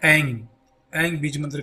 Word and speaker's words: ऐंग: माथे पर पिंच करके ऐंग बीज मंत्र का उच्चारण करें। याद रखें, AING लिखने के लिए हो जाता है। इसको हम बोलेंगे तो नाक से बोलते हैं, इस तरीके से बोलेंगे ऐंग ऐंग ऐंग ऐंग ऐंग ऐंग ऐंग।